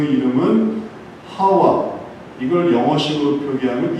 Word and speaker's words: 하와: 아담아가 되고 그 다음에 이샤였던 이 여자는 이름을 또 받는데 그 이름은 하와. 이걸 영어식으로 표기하면 이브가 됩니다. 그러니까 음가의 차이예요. 똑같은 거예요. 근데 히브리에서는 그걸 하와라고 발음하고 영어에서는 그걸 이브라고 발음합니다.